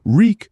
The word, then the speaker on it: Reek: Reek, Reek, it rhymes with leak.